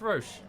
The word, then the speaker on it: Roche: about yeah rosh's uh sorry roach but his name is pronounced roche weird okay there's no a in there it's not i